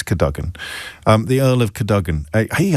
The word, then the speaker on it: Cadogan: And this is one of those things that you have to pronounce in a certain way, otherwise the toffs will know that you're not a proper toff. I think it's the Earl of Cadogan. Or you might say Cadogan, and I'd go, I